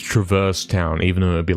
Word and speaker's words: Traverse Town: It's Traverse Town, but it's the actual word is traverse. You see what I'm saying? Cuz traverse town makes no sense. You see what I'm saying? That's That's what you're trying to say. It's not legal to say traverse town.